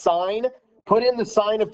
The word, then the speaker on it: sin: there's the button that says s-i-n is um pronounced sign put in the sign